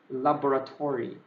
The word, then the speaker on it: laboratory: correctly which is a laboratory maybe you can just stress the o there parallel d o only